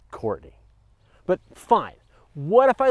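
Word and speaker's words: Courtenay: tomorrow no rain is not expected tomorrow in curtney the forecast is 20° and partly cloudy it's pronounced Courtney but fine what if I lived on the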